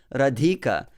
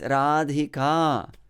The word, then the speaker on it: Radhika: It's not Radhika, it's Radhika. Very often we have to restructure our system, you know, in order to get used to the right pronunciation of Sanskrit words, especially those that have long vowel at the end.